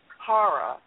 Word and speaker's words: Parra: Anyway, next week we're having Mark Parra. I think that's how you say his name, P-A-R-R-A, and he is from Ohio.